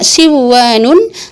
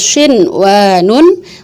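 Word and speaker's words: صِنْوَانٌ: Enggak kita baca duya, enggak kita baca siwanun, enggak kita baca qiwanun, enggak kita baca buyanun, tapi tetap dibacanya dun ya, terus shin wa nun, qin wa nun, bun ya nun.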